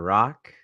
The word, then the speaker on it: Rak: Rock. That is spelled R-A-K, pronounced R-O-C-K.